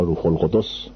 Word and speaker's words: روح‌القدس: گفت روح قدسی ولا روح‌القدس به ضم قاف و به ضم دال هر دو اصطلاح انجیل است و به همان صورت باید تلفظ بشه همان طور که